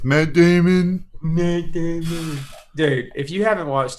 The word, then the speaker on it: Matt Damon: now I do stars Matt Damon and some other people you said it wrong it's Matt Damon dude if you haven't